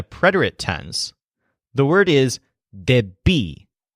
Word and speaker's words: debí: To say I owed or I needed in a preterite tense, the word is debí. So the stress is on B. Debí.